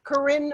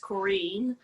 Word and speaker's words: Corinne: and the haha in north hollywood please welcome corinne martinez hey it's actually pronounced korean um i was that that's okay i was